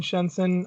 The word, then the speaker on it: Shenzhen: I will keep saying Shenzhen. I know it's pronounced Shenzhen, and I will try, but my tongue doesn't always work the way that I want it to.